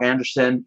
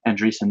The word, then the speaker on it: Andreessen: firm you know Mark Anderson behind it he will mark probably agree safe and recent and reach them sorry I always I always mispronounce his name Andreessen Thank You Zach he